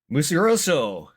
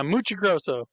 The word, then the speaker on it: Muccigrosso: like to introduce everybody to mus Roso yeah I say it right close enough yeah muchi Gro awesome awesome he is uh the writer of